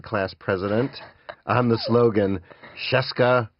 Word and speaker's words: Scieszka: Yeah, I stole that from my brother, who ran for 7th grade class president on the slogan, Scieszka rhymes with Fresca.